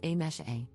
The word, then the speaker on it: Amise: For context, my name is written as Amise, but is pronounced as A-mesh-A.